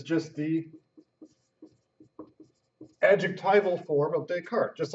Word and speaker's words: Descartes: say his name right don't be saying disc artis that's not how it's said I hear you at a fancy cocktail party saying you've read tusk Artie's everyone's gonna laugh at you and I'm not gonna feel bad for you because I told you how to say his name it's take heart like des cart yeah it's French the French spill and pronounce things differently so Rene Descartes now